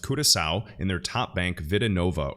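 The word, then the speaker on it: Curaçao: actively being utilized by this dutch caribbean island pronounced curacao in their top bank vidinova or vida nova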